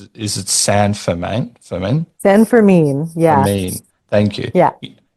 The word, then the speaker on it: San Fermin: but like, for example, with, please correct my pronunciation of it. Is it San Fermin? Fermin? San Fermin.